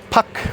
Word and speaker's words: pak: or sir, which is spelled pak, p a k.